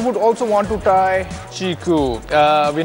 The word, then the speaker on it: QiKU: from a new Chinese company pronounced chiku yes the fruit chiku and the phone in